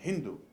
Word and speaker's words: Hindú: de El zinc entonces en farsi el persa la lengua de los persas la s se pronuncia como una H aspirada cuando ellos preguntaron cómo se llama este río en vez de sindú en vez de decir sindúceme hindú y a partir de